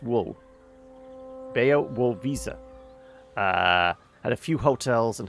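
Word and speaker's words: Białowieża: Bea wo visa. If we just remember this as visa... Bayo Wool. It's the low is pronounced wool. Bayo Wool Visa.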